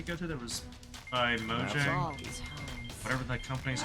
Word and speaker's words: Mojang: I think it's Mojang. Let's start a turn. I can still make it. We're in the black. Is what you were expecting? But anyway, I know it's not pronounced Mahjong. I don't believe it's spelled the same thing.